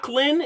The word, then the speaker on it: Lac: me 235th pick overall I believe it's llin is how you pronounce it llin Edwards out of Sam